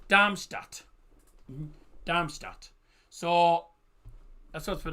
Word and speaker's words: Darmstadt: It's pronounced Damstad or Armistad. No it's pronounced Damstat.